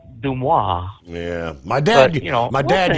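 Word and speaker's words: Dumas: Dumis. Dumis. Or as the French would call it, Dumois.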